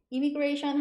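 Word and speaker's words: immigration: o n 좀 길어요 I mi i는 이미 이미 이렇게 발음하시면 되고 뒷부분은 gr 발음 하셔서 imation 이미션 이미그레이션 하면 입국 심사 아니면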